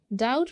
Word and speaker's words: doubt: डाउट में वी डोंट pronounce B.